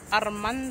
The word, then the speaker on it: Ormond: And you gotta say it like that too. Ormond. You not in Mexico.